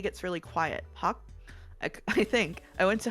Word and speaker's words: Pak: Pak kind of sounds like park, but the K gets really quiet. Pak?